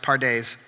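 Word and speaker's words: פרדס: So that word, it's pronounced pardes.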